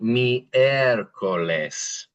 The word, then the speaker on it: miércoles: You can see that I pronunciation there. Me. And then the for the E. Miércoles.